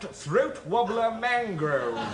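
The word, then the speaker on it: Throatwobbler Mangrove: yed no no no it's spelled Raymond luxury yed but it's pronounced throat wobbler mango you're a very silly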